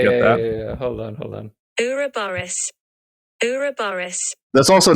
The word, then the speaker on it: Ouroboros: Ouroboros. That's the American pronunciation.